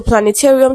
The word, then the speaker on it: planetarium: So most words ending with um a okay have the stressed on the syllable before real like aquarium. Okay. Solarium. Okay. So the syllables are usually before real.